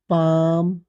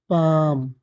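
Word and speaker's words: palm: इसी तरह एम से पहले एल आ जाए तो एल नहीं पढ़ा जाएगा, इस बात का ख्याल रखना है, ठीक है। जैसे आम, पाम, खाम, पाम।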